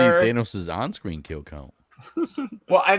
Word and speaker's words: Thanos: Thanos' on-screen kill count.